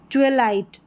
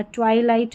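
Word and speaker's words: twilight: यहाँ पर है ट्वेलाइट, ट्वेलाइट करके पढ़ना, ट्वाइलाइट नहीं, आप ट्वेलाइट करके भी पढ़ सकते हैं।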